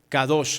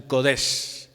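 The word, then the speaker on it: קדוש: Santidad, kadosh, algunos la pronuncian kodesh.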